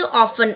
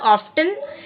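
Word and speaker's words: often: ऑफन। इट इज नॉट ऑफ्टन, टी is silent, ठीक है।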